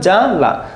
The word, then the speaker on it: জ্বালা: দেখো স্বামী জ্বালা দেখো বুরগির জয় বয় আকার। তো দেখো এই ব কিন্তু নাই। দেখো জালা জামানান তাই উচ্চারণ। শুধু বটা উঠে যাবে। দেখো ব ফলা উঠে যাবে।